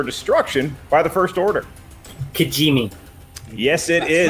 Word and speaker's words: Kijimi: Kijimi. Yes, it is. right. Not an easy one to spell, but you nailed the pronunciation.